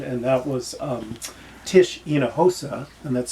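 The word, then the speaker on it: Hinojosa: Um, there's one that I mentioned to you before, David, and that was um, Tish Enahosa, and that's spelled H I N O J O S A.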